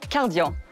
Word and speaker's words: Kardian: l'adrénaline Renaud cardian nous avons décidé de le prononcer à la française pourquoi Renaud est une marque française un peu comme donc la french touch ce nom donc a des consonnes fortes de car le r le D tout ça donc